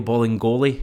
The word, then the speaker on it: Bolingoli: It sounds like it should be Bailey, but it's obviously not Bailey. Bolly Bolingoli.